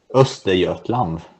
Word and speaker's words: Östergötland: Is how is it pronounced? Östergötland.